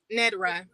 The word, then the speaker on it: Ned'Rah: then you uh uh ned rah am i pronouncing your name correctly out of respect it's nedra okay i got you i got you and the last name is what natara okay well what month of